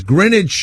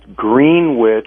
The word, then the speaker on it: Greenwich: by the way Jim Jim of it says Greenwich New New Jersey here you mean Greenwich Connecticut actually pronounced green witch it's spelled like grenage no no no please